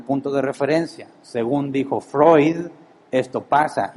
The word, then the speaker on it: Freud: en el área de psicología sigmon Freud se pronuncia Freud sigmon Freud crea todo una análisis psicológico y